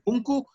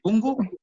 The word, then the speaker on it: punku: Si quieren decir punku, está bien. Si quieren decir pungu, está bien. Cualquiera de las dos formas de pronunciación están correctas.